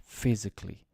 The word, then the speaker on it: physically: salmon silent l basically silent a at the end physically so a-l-l-y we we drop the a physically typically February Laboratory just